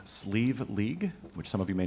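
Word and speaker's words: Slieve League: will now be gratefully received this tune is pronounced sleeve League which some of you may know as the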